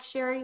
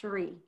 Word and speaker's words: Cherie: like to say that i know it looks like sherry but it's pronounced sheree sorry cherie thank you